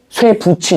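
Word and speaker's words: 쇠붙이: 예를 들면은 쇠부치 이런 거 있죠. 이거 발음 어떻게 하게? 쇠부치. 쇠부치죠. 붙이 이유가 뭐야? T이 뒤로 넘어가면서 이게 치으로 바뀐다.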